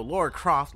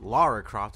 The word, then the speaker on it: Lara Croft: why is you know Laura Croft Lara Croft excuse me not Laura I didn't mean to say it like that it's my accent I apologize but anyway